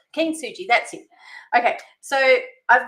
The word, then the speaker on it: Kintsugi: Um but yeah Ken Suji. Keen Suji.